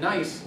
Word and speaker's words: NICE: to the UK, and NICE has to look at that. They're not nice, but that's how they pronounce it.